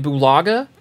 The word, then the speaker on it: Bulaga: and anthony hitchens going to the commanders brian bulaga that's how you say his name went to